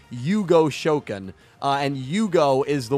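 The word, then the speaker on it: 融合召喚: yu-gi-oh subbed you know the characters always say fusion summon as hugo shoken uh and hugo is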